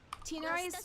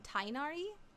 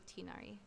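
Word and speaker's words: Tighnari: Tinari is another character where like his name is pronounced oddly in the English dub. Correct me if I'm wrong, but they call him Tainari. But I think he's just supposed to be Tinari.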